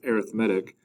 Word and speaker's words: arithmetic: at as arithmetic but when we're talking about a sequence it's pronounced arithmetic an arithmetic sequence is a special